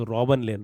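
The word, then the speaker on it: Klein: The poem is Amanda and the poet is रॉबन लेन। रॉबन लेन के silent रॉबन क्लेन ने रोबन लेन लिखा है।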